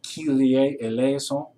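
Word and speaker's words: Kyrie eleison: let me help you with a couple of pronunciations the greek keelier eleazon is still used in the churches today it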